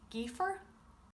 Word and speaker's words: gaofar: You say geer.